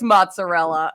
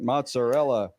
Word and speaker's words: mozzarella: word or is it an Italian word you're saying because we word into English we've anglicized it you have speak for